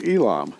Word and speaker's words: Elam: that I will bring again the captivity of Elam, saith the Lord. That's spelled E-L-A-M, Elam.